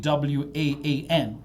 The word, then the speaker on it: gwaan: But in Jamaica, we use the word Guan, which is spelled Guan. Gwaan. Oh.